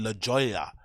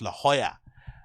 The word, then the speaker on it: La Jolla: before I call it La Jolla the Jolla but it's actually pronounced La Jolla like I think because you can't pronounce the J's in Spanish it's like yeah there's